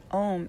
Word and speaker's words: Om: that liberates and protects om is actually spelled a-u-m and is chanted with three syllables um om is